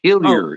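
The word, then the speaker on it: Hillier: the pronunciation though is hiler even though I'm from Eastern and central Canada there is no um there is no French pronunciation uh well thank you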